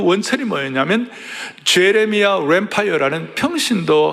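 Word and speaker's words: Lanphier: 대신 발음은 잘하라. 뱀파이어가 아니고 램파이어다. 제레미야 램파이어다.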